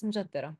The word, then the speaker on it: M'jaddara: in this, and also the variations in the pronunciation and also the spelling as well. But it's mjaddara.